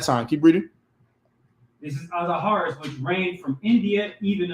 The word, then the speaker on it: Ahasuerus: His name is it's pronounced Ahasuerus. Ahasuerus, yeah.